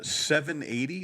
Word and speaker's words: 780: who is it uh 780 there's this fantastic uh store in Edmonton so spelled like the spelled seven and then 80 which is the area code for Northern Alberta so 780 um 780